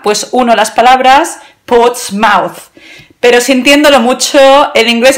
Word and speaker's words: Portsmouth: iris pero con todos mis respetos no es potsmouth spots más coches más puntos más se pronuncia con el sonido sua ahora lo pondré aquí abajo portsmouth pero no es potsmouth ahora en un rato